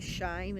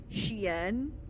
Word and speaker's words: Shein: This is almost as bad as how I found out that website Shine is actually pronounced Shein. Oh. Wait, it is? I thought it was that. Sheen.